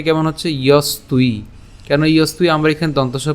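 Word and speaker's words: যস্ত্বি: ইয়স্তুই। কেন ইয়স্তুই? আমরা এখানে দন্তস্ব পর্যন্ত উচ্চারণ করলাম, তাহলে ইয়স, এবং এখানে তয়ের সাথে এখানে আমাদের ব আছে, আর এই বয়ের উচ্চারণটা হবে হচ্ছে উয়োর মতো।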